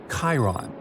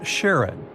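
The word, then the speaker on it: Charon: And finally, while standing on Pluto, you would see its five moons, Stixs, Nyx, Keraros, Hydra, and the most mysterious one, Chiron, also pronounced Sharon.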